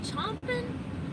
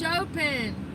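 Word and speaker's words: Chopin: Is it chomping? Chomping. Oh, it's Chopen.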